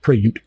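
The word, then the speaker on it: Prayut: be UT like that it's pronounced preut emphasis on the second syllable preut and he never hadn't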